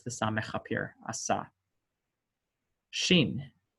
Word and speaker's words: Shin: Shin, asha, just like an SH sound.